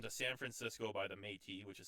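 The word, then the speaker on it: Me'tis: If you listen to San Francisco by the Métis, which is spelled M-E with an apostrophe T-I-S on Spotify, you'll hear all his riffs. They're fucking sick. Sweet. The mate.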